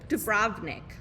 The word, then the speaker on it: Dubrovnik: Dubrovnik is how you say it.